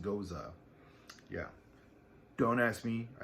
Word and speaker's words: Gose: g-o-s-e is a style of beer and it's pronounced goza yeah don't ask me i didn't invent it